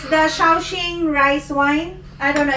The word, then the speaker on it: Shaoxing: It's the Shaoxing rice wine. I don't know if I pronounce that right. Correct me if I'm wrong. Mommy. Yeah? Shaoxing. Shaoxing.